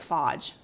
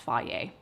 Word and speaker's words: Fage: It sounds like fage fage, but I think it's pronounced fier 5%.